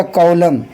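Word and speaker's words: column: देखिए सी ओ एल ओ एम एन। एन एम के बाद है एन तो एन को नहीं पढ़ना है। क्या रखना है? एम को एन को साइलेंट रखना है। बल्कि क्या हो जाएगा? कॉलम।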